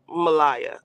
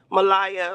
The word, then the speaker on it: Malaya: You said it right, Malaya. Okay, Malaya, like Drake's Malaya.